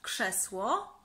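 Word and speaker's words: krzesło: chair in polish so chair in polish is chess war and as you can see they are that we pronounce as sh so and many more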